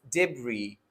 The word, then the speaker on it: debris: So here, the first word is pronounced as debris, where S is going to be dropped.